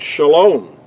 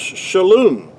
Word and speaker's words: shalom: Another word would be, which in modern Hebrew, the word shalom. But in ancient Hebrew, that word was pronounced shalom.